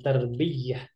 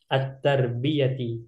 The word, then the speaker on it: التربية: Ya, ini cara bacanya bukan terbiyah, tapi at-tarbiyati. Iya-nya tidak bertasydid. Wa fi ayyi kulliyatin tadrusina anti?